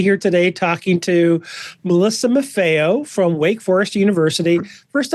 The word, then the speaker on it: Maffeo: today talking to Melissa MAFO from Wake Forest University first off hi Melissa hi Eric uh did did I come anywhere close pronouncing your last name correctly you were perfect absolutely perfect okay um I over my